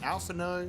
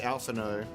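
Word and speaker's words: Alphinaud: name is even pronounced is it alphano or alphan no I'm pretty sure it's like the D is silent cuz it's like that French thing right I think it's alphao and uh I can't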